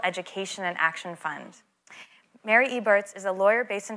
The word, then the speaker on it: Eberts: so i'm going to first um welcome mary egberts eberts thank you and i always get mad at people for saying my name wrong and now i just did that to